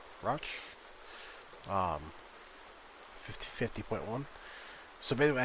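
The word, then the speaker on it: Rauch: then we got the the roch axis i think they pronounce it rosh um 50.1 so maybe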